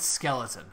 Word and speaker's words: Skchui: You're supposed to pronounce it skeleton.